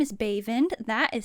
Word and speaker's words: Baevand: Howdy Meowers, my name is Baevand. That is spelled B-A-E-V-A-N-D, Baevand.